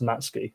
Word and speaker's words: Matsuki: He's right is pronounced Matsky. the U is silent for for some reason